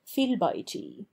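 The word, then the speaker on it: في البيت: Thus, fi al-bayti, in the house, which in Arabic is written fiyhalbayti, and which we transliterate fi al-bayti, is in poetry read fil-bayti, where we must remember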